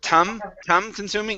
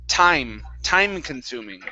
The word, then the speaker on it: time consuming: Now, this is a long I sound. Instead of tum consuming, it's I, time consuming. Try that. Oh. Time consuming. Good, good. Much better with the long I.